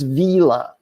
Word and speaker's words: vila: It's not villa, it's vila. So our mouth has to do a little more work. We have to pull the corners back. We have to move our tongue. We have to actually do a little oral exercise to get that E out of there.